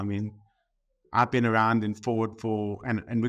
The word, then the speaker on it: Foord: and it just felt right but it's actually pronounced Ford um I've been around 19 years I've worked